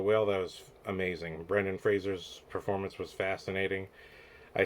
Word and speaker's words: Fraser: But we had gone into the movie, and one of them had said, "Oh, the actual pronunciation of his name is Fraser. We were saying Fraser our whole lives."